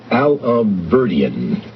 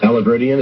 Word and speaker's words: Alahverdian: It's Alahverdian. Alahverdian, is that how to say it? That's right, Mayor.